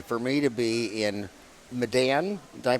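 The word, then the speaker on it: Medan: me to be in Madan did I pronounce right Madan Indonesia or Madan yeah the Malay pronounciation be Madan Malay would be madon yeah and with one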